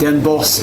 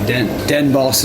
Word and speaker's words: Den Bosch: Not Den Bosch. It's like boss. Den Bosch.